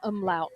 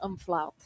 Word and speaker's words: umlaut: It is an umlaut, not an umflaut.